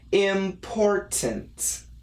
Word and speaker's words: important: So anyway, after saying that, the standard, general, typical American pronunciation of perfect pronunciation would be important. Important. However, in America, we do like the stop sound.